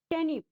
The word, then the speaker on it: turnip: दूसरा वर्ड है आपका TURNIP, टर्निप, यानी शलजम। यहाँ पर आर आपका साइलेंट है, इसे बोलते समय हम ज्यादा जोर नहीं देंगे।